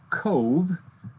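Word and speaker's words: Cobh: So on the road again, south to the city of Cove. It's spelled C-O-B-H, it's pronounced C-O-V-E.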